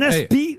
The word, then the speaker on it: aspic: Ah oui, alors on ne prononce pas le C qui est à la fin. Un aspi, ou aspic si vous prononcez le C.